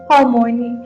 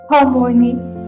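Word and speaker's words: Hermione: to say her name properly he kept calling Harmony Harmony she said slowly clearly Harmony closing enough she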